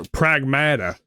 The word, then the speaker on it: Pragmata: then gets rescued by this Prag or Pragmata, is how they pronounce it in the game. Pragmata.